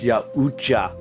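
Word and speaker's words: Yautja: That's pronounced Yaucha.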